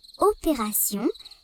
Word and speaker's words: opération: Dans le mot attention, T se prononce S.